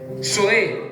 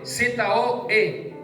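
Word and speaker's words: ζωή: Zoe, Z-O-E, con acento en la E.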